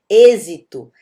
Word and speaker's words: êxito: A gente vai ter aí uma série de palavrinhas que tem esse circunflexo e como vocês podem ver, esse e, ele é fechado. Êxito, eficiência, ciência, né?